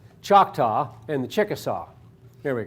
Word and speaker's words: Choctaw: He moved, Tecumseh went down and contacted the Cherokee and the Choctaw, that's not how it's said, Choctaw and the Chickasaw.